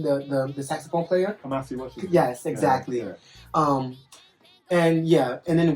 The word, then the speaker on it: Kamasi Washington: Kamikaze Washington, the saxophone player. Kamasi Washington.